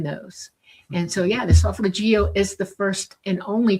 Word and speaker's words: solfeggio: The solfeggio. And that's how you say it, solfeggio.